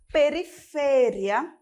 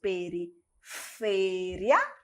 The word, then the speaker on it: periferia: Em espanhol, nós temos periferia. Em português, nós vamos ter periferia.